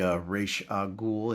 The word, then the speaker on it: Ra's al Ghul: Could be Ra's al Ghul. Yeah, that's how you pronounce it.